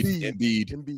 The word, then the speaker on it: Embiid: Embiid.